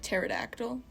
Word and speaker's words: pterodactyl: p in there too the p is silent like pterodactyl yeah like tarantula that's